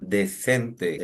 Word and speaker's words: decent: La primera sílaba termina en vocal, tiene el sonido abierto, di.